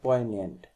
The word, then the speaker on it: poignant: The few remarks that he made were very poignant, तो इस word का pronunciation होता है poignant, और इसका मीन होता है sad and pity।